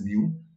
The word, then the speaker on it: mu: like this this way and this way and pronounced as mu the greek alphabet right and this is the